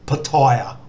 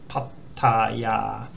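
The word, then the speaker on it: พัทยา: So pat, tat, ya, not pataya or pataya. Pattaya.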